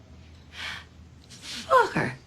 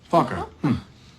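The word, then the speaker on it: Focker: Oh, just like it's spelled. F-O-C-K-E-R. Fokker. Fokker.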